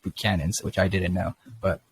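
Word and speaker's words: Buchanan's: use the the buchanans we say with ghanas but i guess it's pronounced but cannons which i didn't know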